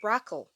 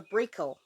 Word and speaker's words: Brakel: fantastic I'm talking about the broccol or the Brickle pronunciations differ a little bit depending on whether you're in Europe or North America it's the same chicken